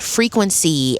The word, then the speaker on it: FRQNCY: It's called Frequency, and it's spelled FRQNCY.